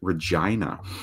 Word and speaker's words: Regina: Fun fact, in Canada, there is a majorish city with the same name, but it is pronounced Regina.